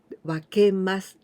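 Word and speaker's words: 分けます: The first kanji we also pronounce wa, wakemasu.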